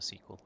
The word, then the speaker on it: SQL: as a database yes it does feel a bit wrong to pronounce um sql a sequel i think it's a microsoft way right so this won't